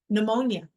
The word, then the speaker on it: pneumonia: Pneumonia. Which, by the way, not spelled like that at all.